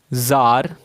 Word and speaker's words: tsar: इसको हम funny way में प्रोनाउंस करते हैं ज़ार। ज़ार मतलब होता है किंग। इसकी स्पेलिंग दो तरीके से लिख सकते हो, TSAR और CZAR।